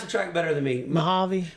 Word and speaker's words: Mojave: do you say this again you you you pronounce the track better than me Mojave Mojave Valley Raceway I I'm terrible at pronouncing stuff